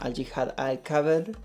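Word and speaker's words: al-jihad al-akbar: la jihad mayor, perdón, en en la pronunciación al jihad al caber.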